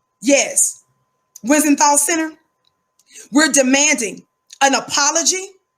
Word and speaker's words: Wiesenthal: Let me pronounce it right. Yes, Wiesenthal Center.